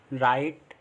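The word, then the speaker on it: right: Next rule है हमारा, जब आई के बाद जी एच टी आए तो भी आई को आई से पढ़ते हैं, और जी एच टी में जी एच साइलेंट रहता है। मतलब जब भी जी एच टी साथ में आ रहा है तो उसमें जी एच को हम पढ़ते नहीं हैं, जैसे फाइट, राइट, लाइट, नाइट, माइट।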